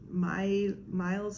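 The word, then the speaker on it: Mailles: I met one of the dyers behind Miles Apart. It's spelled M-A-I-L-L-E-S, which is French for stitch.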